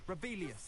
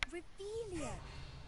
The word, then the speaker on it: Revelio: Rebellious. You're saying it wrong. Ugh, Rebelia. Much better.